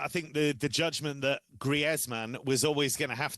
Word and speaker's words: Griezmann: Right, let's move on to someone who everyone gets his name wrong. It's Griezmann, not Griezmann.